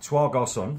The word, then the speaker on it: Trois Garçons: Trois Garçons.